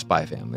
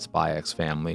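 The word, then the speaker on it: Spy × Family: not spy cross family it's not spy x family it's spy family or hunter hunter and I think ball pit is another example of the x is silent and in those titles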